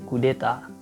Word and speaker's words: kudeta: terdiri dari satu kata tapi mereka memiliki pelafalan yang sama yaitu kudeta Nah untuk istilah yang